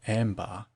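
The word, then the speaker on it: عنبر: Footnote: Arabic: Anbar, pronounced ambar, wherein I would derive ambrosia.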